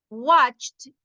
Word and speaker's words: watched: Watched, ese ya lo hemos visto antes, suena la T. Suena como una T.